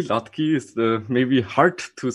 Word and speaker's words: Hladký: Yeah, you already pronounced my name correctly. Hladký is maybe hard to